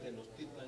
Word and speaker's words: Tenochtitlan: La investigación hay Tenochtitlan, y es Tenochtitlan, como bien estaba pronunciando. Y sobre todo en náhuatl, la mayoría de las palabras son graves. Son graves, Casi no hay agudas. Entonces, además estos son graves, y por eso llevan acento porque terminan generalmente